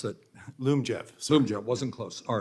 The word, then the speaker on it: Lyumjev: So that means, I may be mispronouncing it, Lyumjev, how do you pronounce that? Lyumjev.